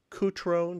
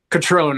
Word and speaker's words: Cutrone: The title is A Walk on the Wild Side, and stereo photographs made by Ronnie Cutrone. Did I pronounce that right? Catrone, I believe.